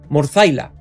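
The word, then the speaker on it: Morthylla: y un relato que lo voy a intentar pronunciar en inglés, Morzaila, porque en español suena un poco peculiar.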